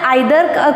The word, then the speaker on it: either: Now for the either or you can pronounce it either or you can pronounce either or. आता either or या शब्दाचं pronunciation उच्चार जो आहे तो काही वेळेला आयदर करतात, काही वेळेला ईदर करतात. दोन्ही उच्चार हे बरोबरच आहेत.